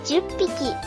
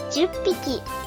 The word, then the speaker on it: 十匹: We replace this h with pp. so it becomes PPIKI. For 8 and 10, we do the same processing as we did for the satsu example. Then add PPIKI after that, becoming HAPPIKI 8匹 or JUPPIKI. 10匹 Again, reading this aloud, it's 8匹 for 8 sheep, 10匹 for 10 sheep.